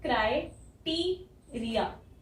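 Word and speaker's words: criteria: यहाँ पे कहीं य नहीं है, लेकिन बोलते टाइम क्राइटेरिया, टी, यहाँ छोटी ई, यहाँ बड़ी ई, यहाँ पे फिर से यहाँ कोई वाई नहीं है पर यह की साउंड है क्राइटेरिया।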